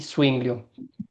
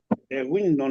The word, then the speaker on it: Zwinglio: Úricos, no sé pronunciar este nombre, pero lo voy a letrear. Z-W-I-N-G-L-I-O. Windows, ¿no será?